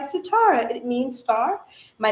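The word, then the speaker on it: Sitara: for me now it is spelled s i t a r a which is the original spelling of like if you have sitar the instrument but that is always how I taught people to say my name especially for all my East Indian East Asian friends my Pakistani friends that's always the reference they would make they'd be like oh satar or like satara it means star my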